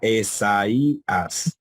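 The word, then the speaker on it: Ἠσαΐας: Sería Esaías, porque tiene una diéresis ahí que crea un hiato, pues rompe el dictongo.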